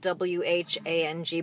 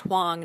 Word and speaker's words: Whang: All right, well, one of the things we have in common is that my last name is spelled W-H-A-N-G, but it's pronounced Hwang, not Whang.